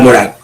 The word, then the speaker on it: Morin: Morin se escribe Morán, en realidad se pronuncia Edgar Morán, ¿no?